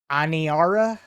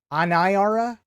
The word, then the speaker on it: Aniara: tonight's movie is uh I believe it's pronounced anara anara Ana like anation i r that movie it is